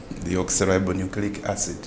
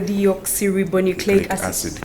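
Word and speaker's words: deoxyribonucleic acid: what it is in full it's the deal cerebronucleic acid I'm asking myself a person down in kawempe how will they pronounce this and how will they understand they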